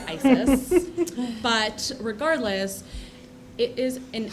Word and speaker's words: ISES: international special event Society ises is the acronym unfortunately uh when you know how you pronounce that it's Isis but regardless it is